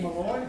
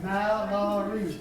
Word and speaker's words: Mallory: That ain't Malloy. Mallory.